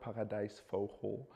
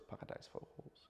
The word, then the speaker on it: paradijsvogel: all kinds of birds paradijsvogels. It's like. It's also, how do you say that? Like a paradise bird. How do you say that? Paradijsvogel. Paradijsvogel. Vogel. Did I say it correctly? Yes.